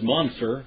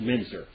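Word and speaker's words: Müntzer: by the name a mincer his name is Munster but it should be pronounced minzer okay because when you have his name was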